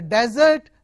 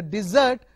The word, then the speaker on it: desert: kind of barren land when you change it stress to the second silver T to the desert okay so first one is a desert the second one is a desert and the desert means